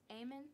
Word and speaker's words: Amen: though AER yeah and that's amen mhm amen okay amen amen amen so it's literally how it's spelled amen okay okay got it